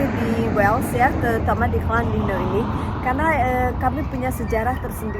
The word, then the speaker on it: Llandudno: We are in Llandudno, which is the slightly correct Welsh pronunciation.